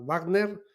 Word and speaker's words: Wagner: hablando del de la Wagner eh vamos a pronunciar la la W como si fuera alemana Y tenemos bueno Todos